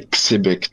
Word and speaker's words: Xebec: Ouais, je pense que faut faut prononcer Xbec, tu vois. En Z, tu vois, c'est pas assez pas assez violent, tu vois.